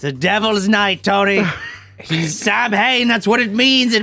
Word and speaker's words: Samhain: the school to write Sam Hain. I know it's actually pronounced Samhain.